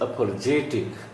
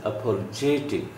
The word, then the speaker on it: apologetic: Then the word is apologetic. Primary stress is on j sound, not on pa. This is apologetic.